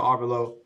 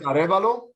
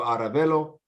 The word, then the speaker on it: Arevalo: We have Chris Baker here, Brandon Willis, Angel Arvalo. Last name is Arevalo. Aravalo.